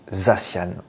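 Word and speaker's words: Zacian: ou zcian et bien il doit se se dire zassan et oui en fait ça vient du mot anglais the San voilà cy a n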